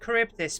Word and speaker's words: Charybdis: I say it's pronounced Charybdis, but it's one of those words that looks nothing like how you pronounce it. At least in English, anyway.